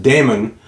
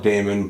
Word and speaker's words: daemon: I know can also be pronounced Damon. We always used to call it Damon, but since we've gotten older and I played Warhammer and D Ae m is pronounced demon in that game, I